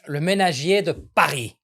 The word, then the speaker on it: Le Ménagier de Paris: Le ménagier de Paris.